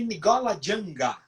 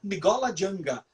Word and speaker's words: Ngola Janga: Os negros chamavam Palmares de Nigola Janga, que traduzindo do banto significa pequena Angola.